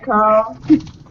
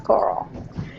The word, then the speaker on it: Coral: Hi, Carl. Girl! You're saying it wrong. It's Coral. Coral.